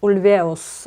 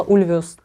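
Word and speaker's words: Ulvaeus: Андерсон и Бьорн Ульвеус, то есть Ульвеус, все-таки на второй слог ударения, и значит все это время я была не права, и Бьорна называла неправильно, я говорила Ульвеус.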